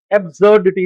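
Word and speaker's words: absurdity: एब्सर्डिटी, इसमें एस का sound जो है वो जेड का आता है।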